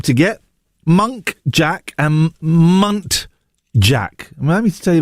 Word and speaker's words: muntjac: I recently found out that monk jack deer are actually muntjac. That took me a long time to get. Monk jack and muntjac.